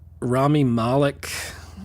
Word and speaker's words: Rami Malek: Panther best actor was rami malek I always say it wrong is Rami I want to say Remy Moloch but it's Rami Malek mr.